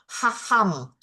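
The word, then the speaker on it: חכם: Ini Kaham, kaham. Kaham, tapi dia bacanya bukan K-nya, dia tidak dibaca keras. Dia dibaca haham.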